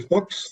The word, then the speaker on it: Fuchs: It's Fuchs. Sounds like books, looks, cooks without the K. Oh, without the K? Yes, Fuchs. Yes, but you pronounce it as though it's a K.